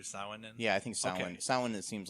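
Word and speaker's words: Samhain: in yeah I think Sin Sin it seems like the the standard Irish pronunciation all right so from here on now we're we're saying sin yes so should we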